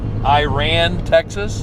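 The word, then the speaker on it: Iraan: you saying Iran Iran it's like Iran but it's got two A's next to each other Iran i r a a n i I think how do you pronounce Iran Iran Texas Iran with two A's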